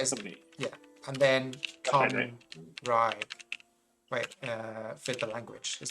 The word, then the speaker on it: Cymraeg: Cymru is the country, and then Cymraeg is the language. Is it CMMRYU? CYMRU. I'll write it in chat. CYMRU. Cymru. Yeah. Wait, is it? Yeah. And then Cymraeg.